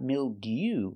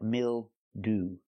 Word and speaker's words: mildew: That's right, not mildew, but mildew. Ooh. We're using the most common pronunciation of EW at the end.